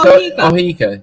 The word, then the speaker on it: Oheka: So is there no pronunciation of that word then, or what? How do you say it? No, it's Ohika. Yeah, that's how it's Ohika.